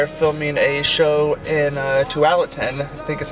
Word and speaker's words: Tualatin: Haley and I are filming a show in Tualatin, I think is how you say it, Tualatin, at a brewery there.